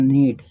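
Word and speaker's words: knee: में, तो याद रखिए कि जो है उस के का उच्चारण नहीं होता, उसको एज ए साइलेंट लेटर लिखा जाता है या कहा जाता है।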